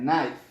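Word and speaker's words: knife: کېږي خو دا اواز یې بدل کړی دی نایف.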